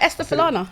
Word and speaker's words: Esther Falana: You said it right, Esther Falana. Thank Yeah. you. That's what I thought. I've heard people pronounce it in different ways, but I thought my way was the right way.